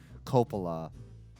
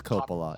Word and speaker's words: Coppola: complan popular it is Coppola it is Coppola copula copula I'm like well I mean I don't know I I was waiting but you've been pronouncing it correctly the whole time you realize that separate